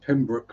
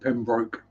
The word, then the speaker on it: Pembroke: And yes, pronounced Pembroke, not Pembroke, as I was trying to explain to Jess the other day.